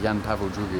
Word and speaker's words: Jan Paweł II: Sorry, yeah, Jan Paweł II is how you say. Yam. Jan Paweł II. II is two.